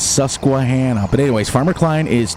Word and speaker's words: Susquehanna: I wanted to make sure that when Raznik watches this, it's pronounced Susquehanna, not Susquehanna.